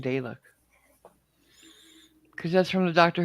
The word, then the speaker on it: Dalek: Is it a long A or a short A? Moderate. A or ah? Ah. Dalek? Close enough, yeah. Dalek. I always say all my life I've been saying Dalek.